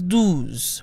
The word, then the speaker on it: douze: Otherwise, when it's followed by a vowel, if you're not careful, it can sound like the number 12, which is douze, with an OU sound.